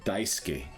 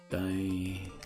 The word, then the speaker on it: Daisuke: Daisuke. Daisuke. Pretty sure you swallow the U or you don't pronounce it.